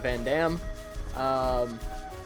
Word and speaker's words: Vandham: I'm going to switch between the pronunciation of Vandham and Vandam.